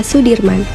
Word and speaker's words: Soedirman: dalam memperjuangkan kemerdekaan Indonesia Jenderal besar Sudirman menurut ejaan saya Wandi dibaca Sudirman Ia merupakan salah satu